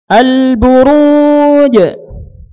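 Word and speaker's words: البروج: Jangan sampai ada desis nafas ya. Buruj. Ya. Jim dia memiliki sifat jahar, tertahannya apa? Nafas. Ya. Sehingga ketika kita membacanya jangan ada hembusan nafas pada makhrajnya. Ditahan tuh. Al-buruj. Jangan al-buruj. Jangan. Ya, jangan di hembuskan. Tapi ditahan nafasnya.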